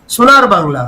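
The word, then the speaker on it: সোনার বাংলা: रहे हैं वो लोग सुनार बांग्ला भी नहीं बोल सकते सुनार बंगाल बोलते हैं सुनार बंगाल जो नॉन बंगाली है वो सुनार बांग्ला का उच्चारण सुनार बंगाल बोलते हैं ये इस पर मीम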